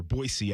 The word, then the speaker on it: Boise: Boise, actually, is how they tell you. We had an SID who was getting on us for not saying it right.